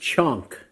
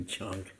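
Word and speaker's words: chhaunk: And especially, it's pronounced chonk in America because we'd spell it different ways. We say chaunts sometimes. So we didn't know how to say it then either, but it's actually chonk.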